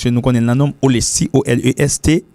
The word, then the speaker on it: Olesty: C'est pas Olestu. Parce qu'on dit Y pour dire Olestu. Non. Y, c'est l'aile pour col, et puis Olesti. Le l'accompagne avec l'autre lettre, et puis il prononce comme I.